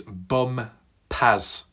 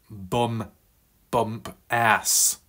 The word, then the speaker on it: Bumpas: So JJ says, my last name is Bumpas, not bump ass.